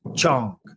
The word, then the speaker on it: Wang: won't know this name Wang is pronounced Chong it says Juan Kong